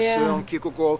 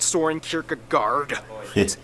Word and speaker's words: Søren Kierkegaard: Hans Christian Andersen, philosopher Søren Kierkegaard, or whether... That's actually how you pronounce his name. Wow. It's not Soren Kierkegaard.